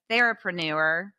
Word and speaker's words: therapreneur: you have coined, I think the phrase of therapreneur. Is that how you Yes.